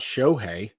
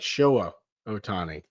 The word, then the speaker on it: Ohtani: go hey oh Tommy that's not how you say it but okay and how do you say it it's not show hey show me Otani it's like showa ohtani ohtani might be traded